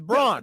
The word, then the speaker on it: Braun: He He said he pronounces it the wrong way. That's how it's supposed to be pronounced. It's Braun.